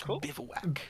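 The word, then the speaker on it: bivouac: And then I have That's how that land is pronounced. Yeah, man. It's It's bivowak.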